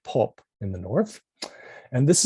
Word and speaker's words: Pop: But the scribe who provided this for Land indicates that they don't pronounce any of that. They call the month Pop, right? So they look at this and they simply say Pop in the same way